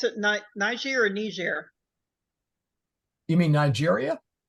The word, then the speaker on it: niger: It would be Niger. No, it's a Niger. Soft G. Okay, it's right. So be Niger. It's in before a G. GE is a soft G.